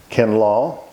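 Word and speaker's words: Kinloch: Pringle, Days, and again, that's our pronunciation of D-E-A-S. Everywhere else, it's D's. Pringle, Days, Abercrombie, Allen, Buchanan, Bullock, Kinlaw, K-I-N-L-O-C-H, Kinlaw, and Logan.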